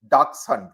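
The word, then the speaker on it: dachshund: A pretty uh a pretty little dark sun. That's how it is pronounced.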